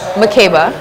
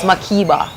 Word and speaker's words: Mekeba: But okay, so my name is Mekeba, the proper pronunciation. I was named after Mary Makeba, who's like an activist and a South African singer. Look her up because she's powerful, legendary, right? Yeah. But my parents are Jamaican, so it's Makeba is how they pronounce it.